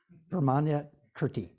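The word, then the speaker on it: Vimalakirti: Can you pronounce his name? Vermana Kirti.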